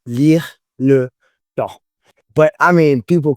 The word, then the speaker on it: Lyre Le Temps: Lyre Le Temps, also known as LLT, are one of the leading voices in the world of swing hop and electro swing.